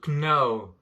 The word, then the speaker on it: know: i don't know non le cas dans ce mot ne se prononce pas il y a beaucoup de mots en anglais avec des consonnes muettes ici en l'occurrence le cas est muet donc on ne le prononce pas la même chose dans